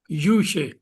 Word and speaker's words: Yusha: It's Yusha. Yusha. Yusha. Right pronunciation.